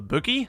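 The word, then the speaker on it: BU-GI: gadget known as the Boogie. I originally thought it was meant to be pronounced Buggy, but Ubisoft called it Boogie, so yeah, we'll run with that.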